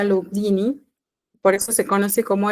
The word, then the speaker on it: Lugduni: Viene de Lyon, en Francia, que se pronuncia Lugduni, por eso se conoce como el Lugdunense.